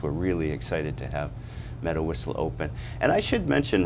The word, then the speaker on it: Medawisla: Now, if somebody wanted to go up to Medawisla, did I pronounce that right?